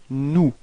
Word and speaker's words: nous: So keep in mind that final S is not pronounced. Alright. So you get this nous.